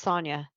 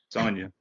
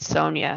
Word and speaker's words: Sonia: in there but it's Sonia Sonia you got it rhymes with lasagna make sure you get